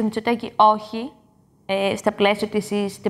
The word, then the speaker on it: όχι: Και έλεγε, κύριε Μητσοτάκη, λέτε όξι. Όχι. Όξι. Ναι, όξι, όξι. Και δεν μπορούσε να το πει. Και μου έκανε τρομερή εντύπωση. Εκεί συνειδητοποίησε ότι αυτό το χ είναι δύσκολο.